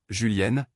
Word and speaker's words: Julien: pas de bonnes infrastructures Julien prononcé julienne est elle née le